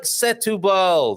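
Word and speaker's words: Setúbal: it looks nothing like setubal does it no it's not the accent is not there the accent is on the u and it's not it's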